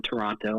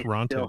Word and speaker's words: Toronto: miss it a lot Americans say Toronto have not oh we do yeah you emphasize because it's like Toronto yeah and we're like Toronto Canada yeah yeah it's like